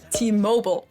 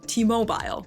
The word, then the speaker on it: T-Mobile: Of course, we're talking about T-Mobile, as it's pronounced here in the US. In Germany, the UK, and I think most other countries, it's usually pronounced T-Mobile.